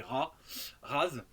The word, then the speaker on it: Raz: soleils, donc Phase et Raz. Alors, on peut prononcer le Z ou pas, hein, ça fait.